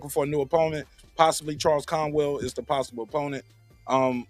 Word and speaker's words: Charles Conwell: well first of all you said it wrong you gotta say Charles Conwell I got like that